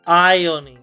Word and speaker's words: ironing: we say ironing. The R is silent. We don't pronounce this letter.